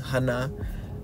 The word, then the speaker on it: Hannah: uh Hannah right which her name being pronounced in Hebrew is Hana which means Grace uh